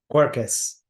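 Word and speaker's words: Quercus: main types of French Oak how do you pronounce that first word Joe cuercus well thank God you're here corkus petraya and corkus Robert which is the finer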